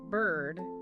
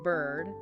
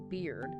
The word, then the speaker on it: bird: Remember that bird is pronounced more like bird, not beard.